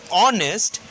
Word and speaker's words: honest: When we say honest, the sound which comes on, honest, on, O is a vowel and also the letter H is silent, and the words sounds vowel.